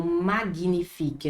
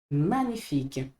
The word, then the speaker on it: magnifique: manifique olha só magnifique a gente não vai pronunciar esse G como magnifique não magnifique não manifique como por exemplo no